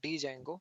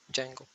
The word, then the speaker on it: Django: framework is django okay d is silent you can spell it as a django okay but you can pronounce it as a django okay so let me